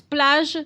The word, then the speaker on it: plage: And we had one, Castile Plague, is that how you say it? Castle Beach, right across plage. From our hotel. So it's plage, so it's Castile Plage?